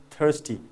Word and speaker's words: thirsty: thirsty see be careful British people don't pronounce raw sound their ROI is silent okay but American people